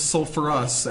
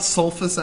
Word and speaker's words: sulfurous: sulfite becomes sulfurous acid it's not sulfus acid we put the r back in there from sulfur sulfurous suurus sulfurous well I've always called it sulfurous oh well yeah different pronunciation I whatever West suurus I think it's suurus all right I uh